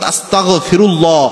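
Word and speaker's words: أستغفر الله: হয়ে যায় এজন্য যখনই আপনি আস্তাগফিরুল্লাহ পড়বেন গ উচ্চারণ করবেন অর্থাৎ আস্তাগফিরুল্লাহ আস্তাগফিরুল্লাহ আস্তাগফিরুল্লাহ এভাবে গিয়ে উচ্চারণ করবেন ক দিয়ে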